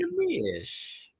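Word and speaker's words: Neemias: But I remember that extra little kind of Nemi-ish, that extra syllable in there.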